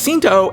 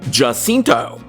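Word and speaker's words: Jacinto: and just FYI folks the letter J in Spanish is pronounced like the letter H in English which is why Manny's last name is pronounced as hinto and not jinto but going back to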